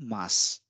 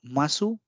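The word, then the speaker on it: ます: this rule too similarly mass mass so these are all examples of mass and the sentences end with mass as well so masu becomes Mass due to devising and this is again another good example of rule 2.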